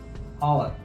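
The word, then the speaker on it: hour: तो इसका जो प्रोनाउंसिएशन है इसमें एच कई बार साइलेंस हो जाता है, तो कई लोग इनको एन आर बोलते हैं।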